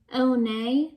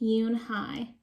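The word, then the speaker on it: Unhei: "Oh, nay?" the girl asked, scrunching up her face. Oh, nay," some kids chanted. No, Yoon Hai corrected. "It's spelled U-N-H-E-I. It's pronounced Yoon Hai." "Oh, it's Yo Hey," the boy said, "like you hey.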